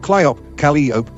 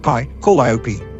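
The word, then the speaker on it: Calliope: what caught my attention was the way she pronounced it cop cop instead of KLA dop call IOP it didn't stop there either otherwise I would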